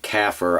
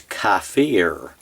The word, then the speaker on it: kafir: Well, using that as a model, that model as a template, we have made kafir our own by not pronouncing it as those who would be our oppressors do, which is kafir.